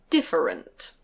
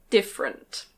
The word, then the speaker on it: different: You can say "dif-fe-rent". Dif-fe-rent. But usually we say "diff-rent".